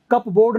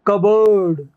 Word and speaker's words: cupboard: P भी silent है, कप बोर्ड नहीं, और B भी साइलेंट है, तो कबर्ड। P साइलेंट है और R साइलेंट है, कबर्ड।